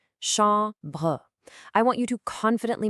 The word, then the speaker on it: chambre: Now listen closely to that nasal sound in chambre. You really have to drop your jaw and let the sound resonate. Chambre.